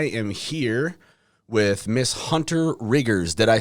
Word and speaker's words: Rittgers: I am here with Miss Hunter Rittgers. Did I say that right? Rittgers. Rittgers. Enunciate the T's.